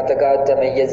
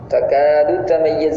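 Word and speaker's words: تكاد تميز: കേൾക്കുന്ന തകാദു തമയ്യസ് എന്ന് ഓടിച്ചു പോകാൻ ദാലിനെ കളയും. തകാദു തമയ്യസ് എന്ന് ദാല് ഉച്ചരിക്കണം. എന്തുകൊണ്ടാണ് അങ്ങനെ കളയുന്നൊരു സന്ദർഭം വരുന്നത്? ദാലിന്റെയും ചായന്റെയും ഉച്ചാരണ സ്ഥാനം ഒന്നാണ്, അതുകൊണ്ടാണ് ദാലിനെ കളഞ്ഞു പോകുന്നത്. ഒറ്റ ഉപ്പ് നാവ് വെച്ചങ്ങ് പോകും. തകാദു തമയ്യസ് ച മാത്രമേ അവിടെ വന്നിട്ടുള്ളൂ. തകാദിൻ തകാദു എന്ന ദാല് വമ്മുള്ള ദാല് ഉച്ചരിച്ചിട്ടില്ല തീരെ. അപ്പൊ അത് വ്യക്തമാക്കണം.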